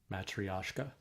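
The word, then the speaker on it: матрёшка: Matriosco dolls. Matrioska.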